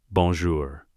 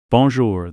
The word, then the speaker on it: Bonjour: Bonjour. Madame Beaumont corrects him. Bonjour, the R is softer. Draco tries again, fails. Gets frustrated, Hermione reaches over, takes his hand. Like this, Draco. Bonjour.